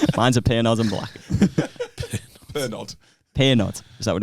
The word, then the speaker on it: Pernod: It's spelled Pernod. Yeah. Oh, okay. The T's silent. Silent D. I'm so embarrassing. I'm sorry, everyone. Sorry, Patreons. Like you, silent D.